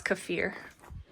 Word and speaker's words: kefir: up with it or oh sorry for the purist out there cfir got to say it right it's cafir I'm going to get scolded